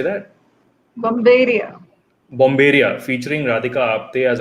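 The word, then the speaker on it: Bombairiya: Bomberia.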